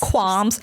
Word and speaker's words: qualms: Has qualms got a silent L? I'm going to say yes.